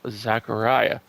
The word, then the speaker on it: Zechariah: here before this and her last name is pronounced Zachariah she says at Great